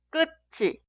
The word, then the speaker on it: 끝이: En el último caso suena un poco diferente. 끝이, 끝이, 끝이.